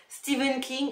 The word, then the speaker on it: Stephen King: Stephen King alors oui je fais partie des gens qui prononcent à la française Stéphane King et et non Steven King même si je sais que ça se prononce Stephen King mais j'ai été habitué depuis toujours à le dire Stephan King donc pour moi ce sera toujours Stephan King voilà merci à toi